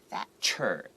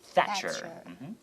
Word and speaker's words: Thatcher: TH, don't forget, your tongue has to go between the two teeth in the front and go Thatcher. Thatcher.